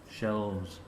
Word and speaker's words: shelves: Shelves. Shelves. Why Z? Because it's a plural and it ends with a vowel.